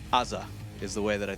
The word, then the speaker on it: AZR: But it's Azza is the way that I think Chad says it.